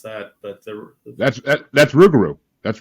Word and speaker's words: Rougarou: I don't know how to pronounce that, but That's Rougarou. That's Rougarou Bar.